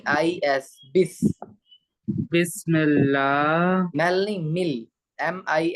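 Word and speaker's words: بسم الله: में बिस्मिल्लाह अच्छा वैसे बिस्मिल्लाह बेस्ट की स्पेलिंग है बी ई एस पढ़ना बी आई एस बिस्मिल्लाह बिस्मिल्लाह नहीं मजूल नहीं पढ़ना है मोटा नहीं पढ़ना है बारीक पढ़ना है बिस्मिल्लाह बस नहीं बिस बिस ही बोल रहा है गलत बोल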